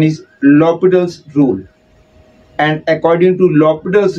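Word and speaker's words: L'Hôpital: students name it as l hospital rule which is not correct the correct pronunciation is lobital's Rule because in the name H is silent and there is no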